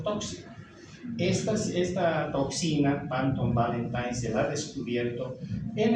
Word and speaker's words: Valentine: la toxina panton Valentin la escribimos como panton Valentin pero en realidad la pronunciamos como panton valentine esta es una leucocidina